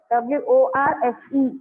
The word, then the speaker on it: worse: Very silently and very intricately the R sound is heard.